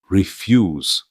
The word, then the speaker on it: refuse: Refuse. With the stress on the second syllable means to decline. But refuse with the stress on the first syllable means garbage.